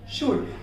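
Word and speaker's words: should: वुड और शुड जो है यहाँ पर देखिए उससे पहले D से पहले यहाँ पर क्या हुआ, L आया, इसीलिए इसे साइलेंट रखा हुआ है।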